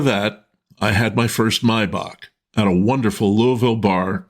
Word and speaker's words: Maibock: It's Maibock, or as it's pronounced in Germany, where the beer hails from, Maibock.